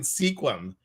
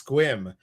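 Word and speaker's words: Sequim: a Washington City called I was calling it sequum it's not it's squim I would probably said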